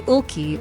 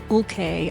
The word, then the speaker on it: Ulke: I learned about Henry he's Henry Ulke or Ulke I heard his name pronounced seven different ways U-L-K-E he came to America